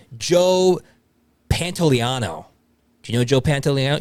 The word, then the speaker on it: Joe Pantoliano: Joe Pantoliano.